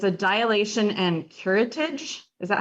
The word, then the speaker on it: curettage: But it's a dilation and curettage.